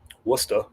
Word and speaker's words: Worcester: Worcester. So I pronounce my my town name, my Massachusetts town names the right way.